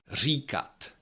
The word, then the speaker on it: říkat: for example ra that's a row or line recut rec means to say then words that have somewhere in the Middle.